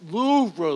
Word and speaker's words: Louvre: It's pronounced Louvre, Louvre.